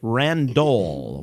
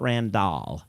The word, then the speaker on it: Randol: this number right now 42 42 randol with an ol not randall it's randol o l